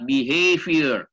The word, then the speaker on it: behavior: sosiologi disebut dengan behavior tulisannya behavior pakai v bacanya di heavier agak susah ya Di